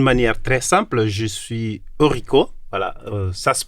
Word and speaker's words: Eurico: D'une manière très simple, je suis Eurico. Voilà, ça se prononce Eurico. Mais j'accepte Eurico.